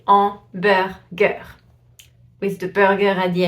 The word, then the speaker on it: hamburger: So it's like if the word was starting with the A instead of a H. You don't pronounce the H at all. You say hamburger.